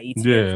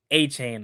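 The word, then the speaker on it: Etienne: Apparently, we've been pronouncing it wrong. Like what? Yeah, he said his name is. Yeah, his name is Travis A-Chain apparently.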